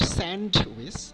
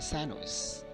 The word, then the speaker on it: sandwich: It is not sandwich, we should say sandwich.